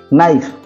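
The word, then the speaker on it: knife: তারপরে দেখো টক, টক টক টক টিএ কে উচ্চারণ হচ্ছে কি না, এল সাইলেন্ট হেলা, এলটা সাইলেন্ট। নাইফ, নাইফ নাইফ তো কোণ এন কেটা সাইলেন্ট হেলা।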